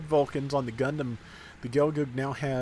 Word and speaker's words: Gelgoog: I usually go with Gelgoog because, you know, the double O like book, so that's what I go with personally.